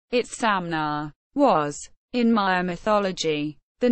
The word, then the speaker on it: Itzamna: is Amna Mayan pronunciation it's samna was in my mythology the name of an